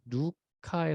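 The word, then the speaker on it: Λουκᾶς: 그런데 이 바울이 이렇게 복음을 전하다가 누구를 만나냐면 이제 누가를 만나는 누가. 이제 원어 발음은 사실 누카에 더 가까운데 누가를 만납니다.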